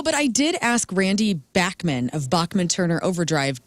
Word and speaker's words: Bachman: No, but I did ask Randy Bachman of Bachman Turner Overdrive, how do you pronounce your name? Because I've heard it both ways. And he said that it's Bachman.